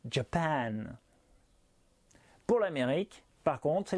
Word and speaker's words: Japan: faudra insister et appuyer pour le japon par exemple sachant que c'est la dernière syllabe la deuxième qui est accentuée ça donnera japan pour l'amérique par contre